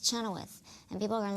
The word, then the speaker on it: Chenoweth: no I'm not going to change it it's Chenoweth and people are going to learn how to